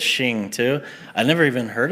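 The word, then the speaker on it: Xing: I think it's pronounced Crossing, but it says Shing too.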